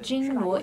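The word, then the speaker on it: 金锣: It's called Jin Luo in Chinese pronunciation.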